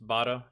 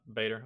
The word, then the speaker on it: Bader: RAF fighter pilot Ace oh that's how it's pronounced B not Bader okay let's start again